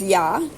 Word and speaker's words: ja: Hadet is spelled H-A, first word, second word, D-E-T. Then the word for yes is ja, J-A.